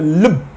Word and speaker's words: lub: উচ্চারণ আমরা লাভ বলি, এটা লব, আমরা মানে লাভ আমরা উচ্চারণ করি না, আমরা মেডিকেল উচ্চারণ লব লব ডাব, লব ডাব।